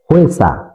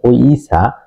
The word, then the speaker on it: 회사: একটি উদাহরণ হলো হোয়েসা। এখানে হিউতের সাথে ও যোগ ই হয়েছে। অনেকেই উচ্চারণটি ভুল করে থাকেন, ও ই বলেন, ও ইসা। কখনো এটা কোরিয়ানরা ও ইসা বলে না, হোয়েসা। হোয়েসা একসাথে উচ্চারণ হবে হোয়েসা, অর্থাৎ কোম্পানি।